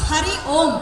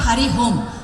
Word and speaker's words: Hari Om: open Namaste to everyone so it is Hari om and not hurry home so you can't go